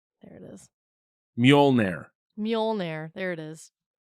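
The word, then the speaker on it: Mjölnir: he was F like it's pronounced muire muire and then he probably repeated it even slower muire I stopped oh yeah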